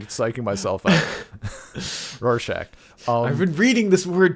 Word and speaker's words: Rorschach: because they view how the hell do you pronounce his name? Splotchy boy. Rorschach. Rorschach.